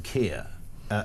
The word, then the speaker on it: Keir: I mean, he's the fact that his name Keir ended up rhyming with two-tier, free gear, never here.